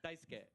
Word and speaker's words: Daisuke: Daisuke.